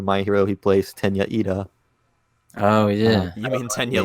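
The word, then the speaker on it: Iida: character in My Hero, his name was actually Tenya Lita because he had been reading the subtitles, and in the subtitles, so his name is spelled I-I-D-A, but in the subtitles, the capital I looks like a lowercase L.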